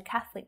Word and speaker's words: catholic: two there are several buildings constructed by the catholic church in the 15th century now it can